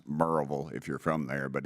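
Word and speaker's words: Maryville: what post where is it sir marville it's pronounced merille if you're from there but it's you would pronounce it marville m a r yv i l l e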